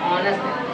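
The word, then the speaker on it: honest: हैं, चलो आज तो हॉनेस्ट में खाने जाते हैं। भाई हॉनेस्ट में नहीं जा रहे हो। What is that? ऑनेस्ट।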